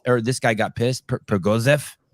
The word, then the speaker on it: Prigozhin: But this Prigozhin thing, like stop pronouncing his name like he's Armenian. Stop saying it like it ends in IAM, please. Prigozhin. I don't appreciate that. Go on. Yevgeny Prigozhin.